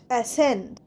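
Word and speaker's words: ascend: next এসেন্ড এ এস সি ই এন ডি এসেন্ড এসেন্ডে দেখো সি এর উচ্চারণ হবে না তাই এসেন্ড যেমন উচ্চারণ হয় সেন্ডসেন্সে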